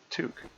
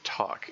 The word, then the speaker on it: toque: I saw I uh saw I was watching another TLDD streamer and they pronounced they pronounced this word talk and that and my brain flinched. Um it's a a toque is a hat.